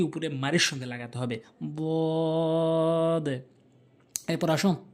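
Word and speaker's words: ض: এরপর হচ্ছে দদ, জিহ্বার গোড়ার কিনারা উপরে মারির সঙ্গে লাগাবেন। দদ গায়রিল মাগদুবি আলাইহিম ওয়ালাদ-দাল্লিন। দদ। বুঝতে পেরেছেন? জিহ্বার গোড়ার কিনারাটি উপরে মারির সঙ্গে লাগাতে হবে। দদ।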